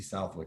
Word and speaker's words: Southwick: so title mindset slash emotional healing with tracy southwick and that is how you say your last